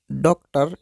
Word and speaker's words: डॉक्टर: का रूप देते हैं, अर्थात हम इसको डॉक्टर इस प्रकार से उच्चारण करेंगे।